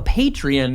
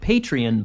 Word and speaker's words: Patreon: that we have a Patreon now, and it's very exciting. I just pronounced it Patreon, but it's actually Patreon.